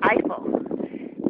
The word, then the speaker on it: Eifel: The Eifel. Not like Eiffel Tower in Paris, but the same pronunciation.